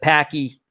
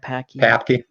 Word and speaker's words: Papke: Because you bring up a lot of interesting things when you do like the Stanley Ketchel and the Packy. Did I pronounce his name right? Papke.